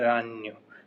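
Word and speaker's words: ragno: य हो मकड़ी तो मकड़ी को बोलते हैं रान जो जी है वो साइलेंट रहता है और बहुवचन है तो रानी जी साइलेंट रहेगा और ओ की जगह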